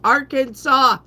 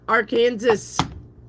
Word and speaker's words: Arkansas: It's Arkansas. It is not our Kansas.